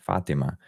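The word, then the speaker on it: Fátima: of Our Lady of Fatima um debuted and um I think it's funny because it's it's a Spanish word. It's Portuguese I think. So it's the accent's on the a Fatima, but it's spelled like Fatima.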